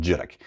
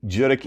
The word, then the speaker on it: Judique: My hometown in Cape Breton is called Judique. You don't pronounce it Judique, by the way. Anybody out there who's pronouncing it Judique, it's not two syllables, Judique. You just run that stuff all together. Judique is tiny.